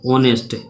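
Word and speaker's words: honest: जैसे इसी तरीके से हम और देखेंगे, जैसे लिखेंगे एन, क्या है, ऑनेस्ट, एच से शुरू हो रहा है, लेकिन एच क्या है, साइलेंट, तो ऑनेस्ट से हो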